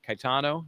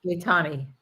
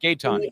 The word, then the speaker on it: Gaetani: I always pronounce her name wrong. Caetano, is that right? Gaetani. Caetani, is it with a C? Yeah, Gaetani? Gaetani. Gaetani. Okay, Gaetani. Lindsay.